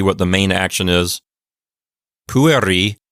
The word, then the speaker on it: pueri: the main action is pueri means boys notice I'm putting the accent on the first syllable it's not puer because that e is not long and it's not in a closed syllable so it's PU Pui